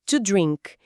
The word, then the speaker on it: to drink: Esse encontro de consoantes, o DR no começo, às vezes é um desafio para nós, falantes de português.